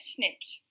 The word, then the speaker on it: SNP: of single nucleotide polymorphisms snp is pronounced as snaps that is variation that